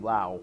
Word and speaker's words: Laos: pronounce the country's name Laos okay that's kind of like the standard English pronunciation almost every single loud